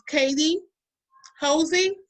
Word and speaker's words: Katie Hosey: to um welcome and tell me if i'm pronouncing your name correctly it's katie josie uh-huh that's correct okay this is how um